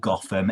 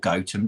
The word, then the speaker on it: Gotham: there is a place called gotham it's not called goatum don't call it goatum it's like it's spelt gotham as in you know